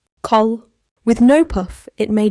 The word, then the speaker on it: 칼: Let the air out clearly. Call 좋아요. That one needs the puff.